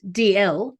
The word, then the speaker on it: Dalziel: deb's got an interesting surname which is pronounced dl i know this you're